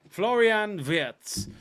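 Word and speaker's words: Florian Wirtz: but that don't look official how do you pronounce ver floring vs on Florian vs there you go VZ Florian VZ uh the referee is going to the screen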